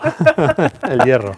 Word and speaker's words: El Hierro: I'm going to say El Hierro. El Hierro. El Hierro. Yeah, the H is not pronounced at all. El Hierro.